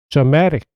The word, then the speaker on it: dramatic: dramatic, 드라마에 이게 붙으면서 앞에 있던 강세가 뒤로 옮긴 점 유의하시고요. 드라마, dramatic.